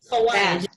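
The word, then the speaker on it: Hawaij: Hawaj. It's spelled in Hawaii.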